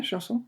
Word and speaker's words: chanson: Am I pronouncing it right? Yeah, chanson.